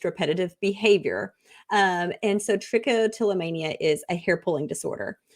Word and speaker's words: trichotillomania: I pronounced it absolutely horrible so would you pronounce it for us again it's tricotilomania troia and your book is where's my hair a tricotilomania story for children yes so I want to start explain tricotilomania and for anybody out there who doesn't know